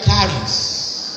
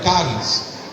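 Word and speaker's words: CHARIS: es el nuevo organismo se escribe c h a r i s pero se pronuncia caris una palabra griega caris que significa gracia gracia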